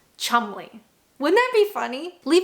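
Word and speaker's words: Cholmondeley: They wrote the names and they said, you know what would be really funny if this is actually pronounced chumley.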